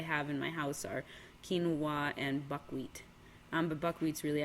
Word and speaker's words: quinoa: Like, the only grains that I have in my house are quinoa and buckwheat.